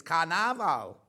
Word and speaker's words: Carnaval: who's done these Graphics they spelled Carnival wrong they've spelled it the way we spell it but it's not it's Brazilian it's Carnaval little be Barry I